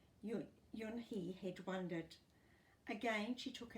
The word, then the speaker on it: Unhei: "Oonay?" the girl asked, scrunching up her nose. Oonay?" some kids chanted. No, Yun Hai corrected. "It's spelt Unhei. It's pronounced Yun Hai."